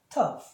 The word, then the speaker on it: tough: 그래서 tough 그러니까 받침으로 될 때 GH가 받침으로 될 때는 항상 F 발음으로 들어갑니다.